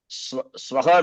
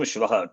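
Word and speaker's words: स्वाहा: And Swaha will become Shwaha. Tomorrow will become dog.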